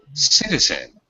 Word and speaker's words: citizen: And just the word citizen, where's the stress? City. Yeah, the first sit.